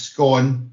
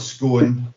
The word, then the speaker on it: scone: So I think we can all agree the pronunciation is scone, it's not scone.